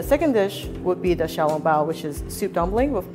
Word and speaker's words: 小笼包: The xiaolongbao.